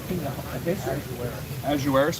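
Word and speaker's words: Ahasuerus: Then the king Ahiserus answered and said unto Esther the queen, how do you pronounce it? Azueris.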